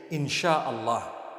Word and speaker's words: In Syaa Allah: s-y-a they pronounce it they pronounce the s-y the way we pronounce s-h so they can write